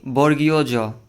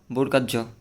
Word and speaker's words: বর্গীয় জ: এখানে একটা আছে, এটার উচ্চারণ হবে কি বর্গীয় জ। অনেকে বলে যে বর্গার জ, এটা ভুল হবে। কি হবে? বর্গীয় জ।